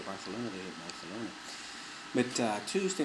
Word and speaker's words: Barcelona: here in Barcelona Spain that's how they say it kind of they they all seem to lifp a little bit but Spanish it's kind of cool kind of a different way they Barcelona and it's cute you know so I